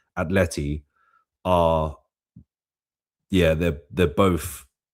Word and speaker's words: Atleti: that those two games against Atleti, let me pronounce it correctly, Atleti, are, yeah, they're both like, how can I put this?